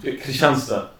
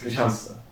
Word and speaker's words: Kristianstad: Kristianstad, That's how you pronounce it. Yeah. Like in the lingo. yeah. Okay. That's how Swedes pronounce it. Yeah, they like eschew a bunch of the letters. It's Kristianstad.